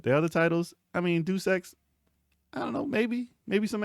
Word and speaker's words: Deus Ex: Drop a deuce X. Deus Ex. Deus Ex. You got to So- Deus Ex. What? Yeah, drop a deuce X real quick. Well, you know how it is with these games. You pronounce it wrong, it's my correction.